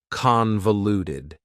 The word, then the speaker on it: convoluted: Convoluted also has four syllables and the stress is on the first syllable. Convoluted. That second syllable again has that schwa sound, that reduced vowel sound.